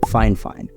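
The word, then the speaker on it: FIFINE: try and pronounce their company name it's apparently pronounced fine fine introducing the fif fine introducing the fine fine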